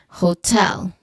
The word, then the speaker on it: hotel: Then the crucial aspect here is also the stress which falls on the second syllable hotel.